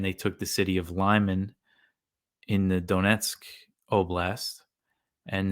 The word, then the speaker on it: Lyman: I understand lit the city of Lyman or Lehman I think it's pronounced uh was not too